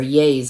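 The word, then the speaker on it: Yeh: And this is Yanes, or Yays, I think that's how you pronounce it, Yay.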